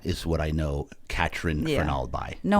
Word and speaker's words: Fernald: Katryn Fernald. Did I pronounce that correctly? Fernald, yep.